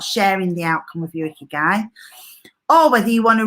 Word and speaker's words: Ikigai: And what we're going to do together is an activity based around this Japanese model, which is called Ikigai. Now, I did listen to the pronunciation of that because I'd only ever seen it written down.